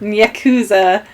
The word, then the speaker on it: yakuza: cues what how do you say that yakuza yakuza and that's like a whole separate game you